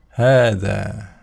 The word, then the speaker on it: هذا: Ya, dalam kata hadza, ya, hadza di sini dibacanya hadza, ya, panjang, ya. Padahal di sini artinya apa? Tulisannya tidak ada tanda panjang sama sekali, ya, tapi dibaca dengan panjang. Seperti itu aturannya, ya, memang dari sononya seperti itu. Jadi kita tidak boleh membacanya dengan hadza gitu, ya, tapi harus hadza, dua-duanya panjang.